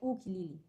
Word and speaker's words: ukulele: So if it sounds like you, it has to sound like ukulele, but it's pronounced as ukulele.